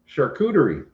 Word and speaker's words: charcuterie: shh abby what's that what's the word that sounds like sure coochie how do you say it charcuterie it's like a charcuterie